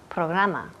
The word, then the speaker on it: program: Programa. Program. Good. Program. Program. Yes. Program. Program. Y la última letra aquí es una M. Program. Los labios tocan.